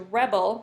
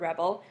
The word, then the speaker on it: rebel: crush the rebel soldier, and the emphasis is at the beginning of the word rebel. And then you'll hear Skywalker will rebel against his father's wishes, so the stress is on the second syllable.